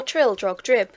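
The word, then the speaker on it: Trildrogdrib: It contained a warrant for conducting me and my retinue to Traldrag Dub, or Trildrog Drib, for it is pronounced both ways as near as I can remember, by a party of 10 horse.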